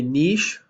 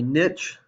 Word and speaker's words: niche: that over here also this is called a niche or a niche it kind of depends on where you come from and how you say it but if you can